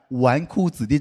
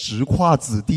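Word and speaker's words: 纨绔子弟: It took me three years to finally understand the meaning of the word "wánkù zǐdì" (playboy). It's not pronounced "zhíkuà zǐdì," you know?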